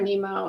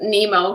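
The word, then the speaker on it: mnemo: it yeah they said i think they're a nemo in the book i mean in the audiobook yeah they're they're spelled like m-n-e-m-o so i was like okay yeah i thought of nemo because i kept hearing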